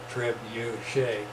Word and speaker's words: Trebuchet: Last screen is the pronunciation up in the upper right hand there, Trebuchet. What does Trebuchet mean?